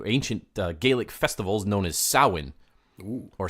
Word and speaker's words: Samhain: Gaelic festivals known as soin or soin but not Samhain wasn't it it's spelled Samhain though it is it's spelled s am h AI n but it's not pronounced that way and you have all